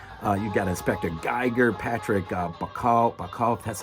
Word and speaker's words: Bauchau: You've got Inspector Geiger, Patrick Bauchau, that's how you say it.